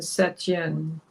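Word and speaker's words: Saint-Étienne: I'm looking at Wikipedia St Anan French pronunciation seten okay we got that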